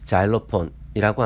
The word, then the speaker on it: xylophone: 단어 처음이 X이므로 자음 지읒으로 Y는 Y로, L은 리을로, O는 O로, P는 피읍, H는 묵음이고 O는 O, N은 니은, 단어 끝에 알파벳 E는 묵음이고 그럼 모아진 것을 읽어보십시오. 자일로폰 정도로 읽을 수 있습니다. 보통은 자일로폰이라고 합니다. 그럼 자일로폰이 뭘까요?